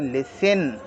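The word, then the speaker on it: listen: एफ टी एन ऑफ एल आई एस टी ई एन इसको हम पढ़ लिसन लिसन मतलब सुनना लिसन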